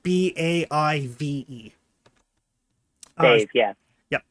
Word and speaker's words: Badb: Crazy Gaelic spelling, but it's pronounced BAIVE.